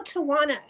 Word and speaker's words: Tawana: Well, now that I think about it, I go Tawana like Tawana.